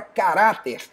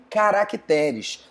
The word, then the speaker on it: caráter: forma de qualquer quaisquer algumas palavras acabam tendo modificação na sílaba tônica é o caso da palavra caráter que faz plural em caracteres também a palavra júnior